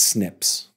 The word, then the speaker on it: SNPs: It looks for something completely different in the DNA called single nucleotide polymorphisms, or SNPs, and then that is pronounced SNPs.